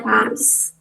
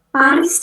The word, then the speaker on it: Paris: Contoh yang pertama ada Paris. Paris tuh dibacanya pari pari. Jadi snya enggak dibaca, R-nya juga harus ditenggorokkan.